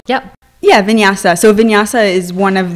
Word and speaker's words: vinyasa: what that is sorry what is that it's pronounced yeah yeah vinyasa so vinyasa is one of the more fast